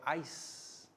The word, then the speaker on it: ice: tell pat to spell ice i see e soft c sounds like s ice city soft c